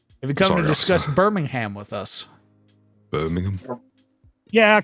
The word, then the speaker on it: Birmingham: Bing name nice Birmingham Birmingham Birmingham Birmingham nobody says ham Birmingham Birmingham it's not hard it's